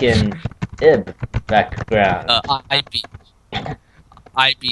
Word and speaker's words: Ib: IB is how you spell it. It's actually like Ebe, but I follow in Cry's footsteps because I like Cry. So I say Ib.